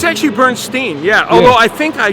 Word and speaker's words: Bernstein: It's actually Bernstein. Yeah. Although I think I should be pronouncing it Bernstein. Like Leonard Bernstein pronounced it Bernstein, but my family apparently did it wrong.